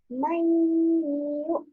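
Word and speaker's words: مَنْ يُؤْمِنُ: Jadi cara membacanya adalah masuk dengan mendengung. Bagaimana? Mayyu'minu. Nah, mendengungnya juga sama, minimal 1,5 alif. Mayyu'minu, jangan sampai mayyu'minu. Nah, itu enggak mendengung, cuma masuk saja.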